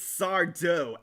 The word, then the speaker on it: Sardo: It's Sardo, accent on the do.